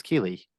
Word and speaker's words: Keely: podcast so I am here with Keeley it's Keely is how I pronounce it I didn't even like ask like